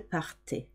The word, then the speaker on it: partaient: The last one sounds like the first three, even though it's got ENT at the end. It is silent. Ils, elles partaient.